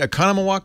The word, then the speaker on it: Oconomowoc: Leo Laporte the tech guy 8888 ask Leo Oconomowoc Christian am I saying it right Oconomowoc Wisconsin yeah Wow I don't know where they